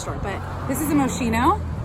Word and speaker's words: Moschino: I have more in my car from the first store, but this is a Moschino, right? That's how you say it, Moschino.